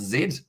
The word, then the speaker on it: Z: and uh it's uh it isn't z it's pronounced zed in there says darren smith z rather than